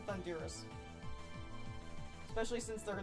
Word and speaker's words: Thundurus: tornadoes and thundurus and i know it's pronounced thunderous but i i it sounds cooler to pronounce the thunders especially since their names